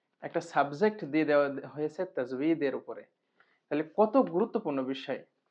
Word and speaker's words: তাজবীদ: কিন্তু বাংলায় আমরা বলি তাজবিদ, তাজবিদ, তাজবিদ বলি, কিন্তু আরবি হচ্ছে তাজউীদ। তো বা এবং ওয়া যে বিপজ্জনক অক্ষরের পাশাপাশি রাখা হয়েছে, এটা হচ্ছে এই কারণ যে ওয়া আর বা একরকম উচ্চারণ হতে চাই। যাই হোক, আমরা তাজবিদই বলি, যেহেতু আমরা বাংলায় শিখেছি, আমরা তাজবিদ বলি।